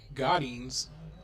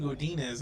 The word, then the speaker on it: Godinez: Devin Godinez, I believe, is the pronunciation for number 7 there, Devin Godinez.